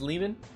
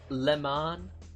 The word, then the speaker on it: Leman: My name's Lehman. Lehman. It's pronounced Leman.